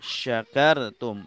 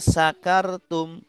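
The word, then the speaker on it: شكرتم: nikmatku kepada kalian ya tapi banyak orang yang membaca syakartum bacanya sakartum ya syinya nya jadi sin asalnya syin besar menjadi sin kecil. Nah, ini artinya jauh. Artinya kalau sakartum artinya mabok.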